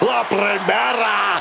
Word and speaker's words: La Primera: You need to roll your R's a little bit on that, man. La Primera.